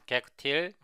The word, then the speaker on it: gacutil: Also, we will use gacutil or gacutil, I will pronounce it as gacutil, this global assembly cache tool.